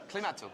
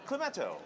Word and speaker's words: Klimato: How do we pronounce this? Klimato. Klimato.